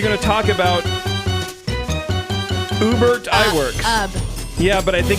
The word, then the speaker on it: Ub: It's pronounced Ub.